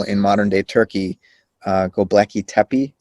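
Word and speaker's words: Göbekli Tepe: modern day turkey uh gobleki tepi i believe is how you pronounce it have you heard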